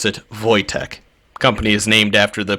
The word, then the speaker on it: Wojtek: Yes, you pronounce it Wojtek.